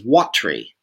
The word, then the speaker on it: watery: this in the text you'll see it says Watry that's two syllables so now we're down